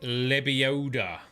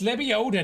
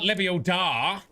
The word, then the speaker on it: Lebioda: And it's pronounced Lebioda. Wingardium Lebioda. It's Lebioda, not Lebiodar.